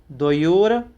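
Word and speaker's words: द्वयोर्: कटस्य, कटस्य कर्ताः, कर्ताः मिति, कटस्य कर्ताः मिति संबंधः, संबंधः स्याद्, स्याद् द्वयोर, यहाँ पर रा है इसीलिए द्वयोर, द्वयोः, द्वयोः, द्वयोर, द्वयोः,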